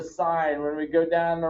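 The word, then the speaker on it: sine: the angle this is not the sin of the angle the angle did nothing wrong so you don't say it's the sin of the angle it's it's the sign when we go down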